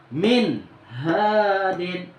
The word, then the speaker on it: min hadin: Min bertemu dengan huruf H, ya. Maka cara membacanya harus jelas. Contoh, min hadin. Nah, karena huruf H itu termasuk daripada huruf izhar.